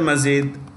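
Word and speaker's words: Madjid: in I chose that true spelling is m-a-d-g-i-d on't worry I just I'm not going to pronounce the d there so Abdul Masjid foreign then we have Niger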